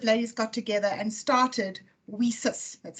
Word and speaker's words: WiCyS: a couple of ladies got together and started we sis that's how we pronounce it women in cyber security and we